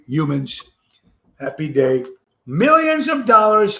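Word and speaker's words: Youmans: and he caught it Corey humans uh pronounced y-o-u-m-a-n-s Corey humans happy day millions of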